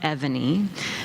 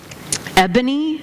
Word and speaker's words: Evany: Having an unusual name like Evany means that meeting someone for the first time can be fraught with pitfalls. Ebony is a favorite misstep, and it's always accompanied